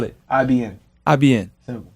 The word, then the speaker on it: Ibn: IBN. IBN. Simple. But there's no I in between the B and the N. No, it's just bin. Ibn.